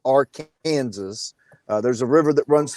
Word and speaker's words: Arkansas: In the rest of the world, you pronounce the word Arkansas, Arkansas. But if you live in the state of Kansas, you pronounce it Arkansas.